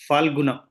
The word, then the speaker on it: Phalguna: Falguna. Falguna, no. There's no Ana. Falguna. Yeah. Falgun. Phal. Say Falguna. Not Fal. Not F. Pha.